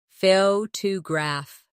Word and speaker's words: photograph: Now photograph. The stress is on the first syllable. Foggraph.